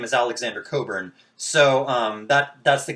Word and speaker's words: Cockburn: but she she changed her name from uh coburn pronounced coburns but it's spelled cockburn right like c-o-c-k-b-u-r-n